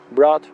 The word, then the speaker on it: brought: She brought me up. She brought me up. She brought me up. Ella me crió. Vamos a ver, la GH de brought no se pronuncia. Decimos una especie de O larga.